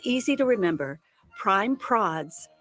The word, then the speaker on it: Prime Prods: Prime Prods rhymes with classy broads.